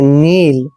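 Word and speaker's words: kneel: जब भी एन के मित्र। पहले कौन आता है, कौन हमेशा होता है चुप रहो।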